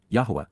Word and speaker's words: Yahweh: time when this started and from the first Yahweh Yahweh the proper pronunciation of yhwh spoke communicating Dabber verbally expressed